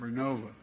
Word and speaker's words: Vernova: I mispronounced it. Vernova in Florida, New York.